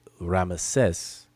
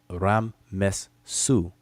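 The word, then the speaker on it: Ramesses: and that's his name it's the Greek uh transcription and pronunciation where people where we get ramases from but it's really Ram Ram mes Su Rah gave birth to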